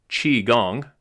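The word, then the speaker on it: qigong: The first thing you learn in qui gong pronounced chi gong.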